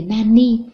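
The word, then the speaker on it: 何: Trường hợp A nhỏ, đó là khi nó đứng trước một từ mà bắt đầu bằng hàng T, D, N.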